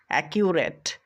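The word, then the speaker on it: accurate: ইউ কিউ কিউ আর এ টি রেড রেড একিউরেট পরেরটা দেখো এ সি ইউ এসি কিউজ cues কিউজ একিউজ পরেরটা দেখবে এতে আমরা উচ্চারণ করব সি এইচ আই ই V chief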